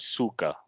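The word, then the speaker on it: Sokka: Oh, Aang is pronounced Ong and Suka.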